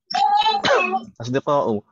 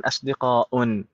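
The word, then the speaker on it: أصدقاء: Makanya di sana asdiqa'u bukan asdiqa'un. La yunawwan, enggak boleh ditanwin asdiqa'un.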